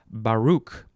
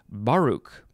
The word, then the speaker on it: Baruch: okay next we have baruch i think you could also say baruch put the emphasis on the other syllable capital b-a-r-u-c-h it is